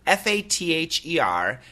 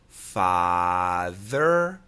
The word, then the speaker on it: father: of father and farther f a t h e r and f a r t h e r you bet listen carefully father farther okay so father it's a very clean sound father father but when